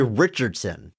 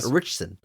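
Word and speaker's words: Ritchson: richon rich rich richon I feel like it should be Richardson it's just Rich it's just taking a syllable richson apologies Alan I'm I'm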